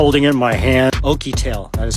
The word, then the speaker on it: OUKITEL: where's my phone I'm like in my hand oky tail that is how you say it powered by